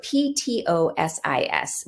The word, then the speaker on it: ptosis: common symptom is ptosis so p-t-o-s-i-s we pronounce it ptosis like t-o-e-s-i-s and um here you